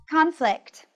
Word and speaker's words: conflict: whole lives rearing you conflict conflict con flicked conflict pay attention to the ending sound and the stress on the first syllable repeat after me conflict